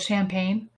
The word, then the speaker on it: Champaign: to Champaign this weekend you're living in a town called champagne yeah it's not spelled like the alcohol though haha damn almost like